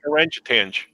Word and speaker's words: orangutan: We pronounce that orangutan.